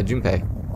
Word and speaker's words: Jun: Is that how you pronounce Junipe? Yeah, Jun. It's for Japanese. This is mostly phonetic.